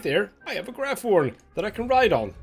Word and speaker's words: Graphorn: just to get a Graphorn, sorry. Bit confused about the name, have heard multiple pronunciations, I think, or I'm just wrong. Basically, Graphorn, there we go.